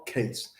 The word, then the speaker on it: Chase: Lee Bell case it's spelled with an H pronounced without JD PhD doctor of